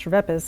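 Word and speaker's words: Schweppes: interesting history about scheps it's pronounced Chas in Germany yakob sha was a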